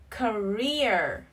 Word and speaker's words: career: A career, career. Trọng âm rơi vào âm tiết thứ hai nha.